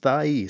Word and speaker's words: Thais: let me know that her middle name happens to be thais and it's pronounced thyee so she should know